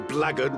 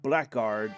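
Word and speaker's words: blackguard: You would think black guard, but again we as we know it's the British Commonwealth pronunciation.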